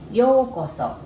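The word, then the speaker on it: ようこそ: country you would use yokoso so let's take a look at the pronunciation first yokoso and if you cut into half the first part yoko it's the same pronunciation as yoko ono's yoko that's john lennon's wife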